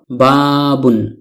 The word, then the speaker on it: بَابٌ: আরবিতে ফাতহাতুন বলা হয় এই চিহ্নটি হলো জের জেরকে আরবিতে কাসরতুন বলা হয় এই হলো বাবুন শব্দটি এই শব্দটির শেষ বর্ণ বা হরফের উপরে দুইটি দম্মাতুন রয়েছে যা তানউইনুনের একটি লিখিত আকার যেহেতু নুন সাকিন